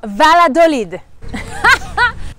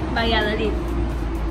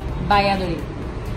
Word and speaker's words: Valladolid: Today we're going to Valladolid. I'm told that's not how you say it. How do we say Valladolid? What's the right way to say it? Valladolid. Valladolid. Valladolid. Gracias. Now we know.